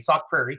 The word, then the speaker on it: Sauk Prairie: Sauk Prairie? I always say it wrong. Greg always yells at me. Sauk Prairie.